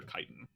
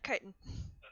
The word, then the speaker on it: chitin: That's chitin, not chitin.